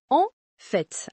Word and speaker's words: en fait: Pour en fait, on prononce en fête avec la nasale en et le t final qui se prononce.